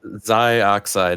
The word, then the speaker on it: Xioxyde: What is the proper pronunciation? is Zioide is the full name.